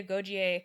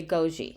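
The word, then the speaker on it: Agojie: On the pronunciation, I thought they pronounced it in the movie Agogie. I think they're kind of doing a diphthong at the end.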